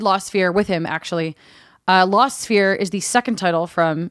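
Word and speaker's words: Lost Sphear: so Brittany you played about 15 minutes of lost sphere that's a th ei R law said be ER e AR it's spelt SP h EA R that's weird yeah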